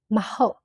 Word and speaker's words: မဟုတ်: For no, we use maho, maho, mahopu, mahobabu, maho. The meaning is no, not, is false. And pronunciation, maho, maho, maho. We use ma sound in front of ho, turn into negative.